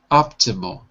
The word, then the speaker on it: optimal: Not ma, but mo. Optimo.